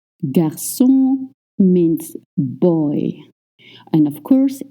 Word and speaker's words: garçon: You don't move your lips. It's just the back of your tongue. Let's try. O, O, Can you hear the difference? Now try. Good. O, O, You don't voice any N sound.